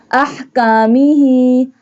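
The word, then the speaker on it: أحكامه: Ahkamihi. Ha. This one ha pronounced from the middle part of throat.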